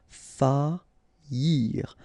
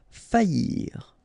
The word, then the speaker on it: faillir: Okay, so you don't pronounce this I here, okay? Faillir. Faillir.